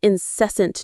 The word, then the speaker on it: incessant: Well, we live in a world that is defined by its incessant noise. Let's practice that word. It's a very useful one. Incessant. Incessant. The stress is on the second syllable.